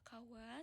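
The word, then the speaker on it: 河: Nah, jadi bedanya dengan ee kanji kawa yang sebelumnya. Kalau kanci kawa yang ini kesannya itu lebih besar atau resmi. Untuk cara bacanya eh untuk koniominya itu ada kawa sedangkan onyuminya itu ada ka.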